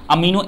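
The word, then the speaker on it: amino: ये smallest unit है अमीनो acid का, इसको अमाइनो एसिड भी प्रोनाउंसिएट कर सकते हैं।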